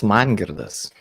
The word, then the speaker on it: Mangirdas: It's Mangirdas.